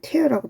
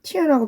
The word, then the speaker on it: tear: 자, that부터 tear까지가 tear가 아니고 이때는 tear라고 발음해야 되겠다, 그지?